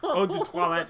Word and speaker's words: eau de toilette: Well, That's I would call it like eau de toilette as opposed to cologne. Yeah. Say it like an American. Wow, like that was bad. I speak French too. So eau de toilette.